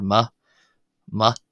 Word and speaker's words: mé: So generally that's shortened just to a short e sound like m or ma ma more like an a short a sound.